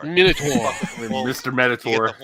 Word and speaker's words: Minotaur: It's not Minotaur. I don't know where you guys are getting that. It's Minotaur. Minotaur.